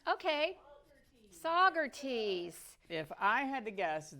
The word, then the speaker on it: Saugerties: There, how do you pronounce that, Debbie? Saugerties? Okay. Saugerties.